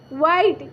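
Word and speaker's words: white: डब्ल्यू एच आई टी ई, वाइट, क्या है, वाइट।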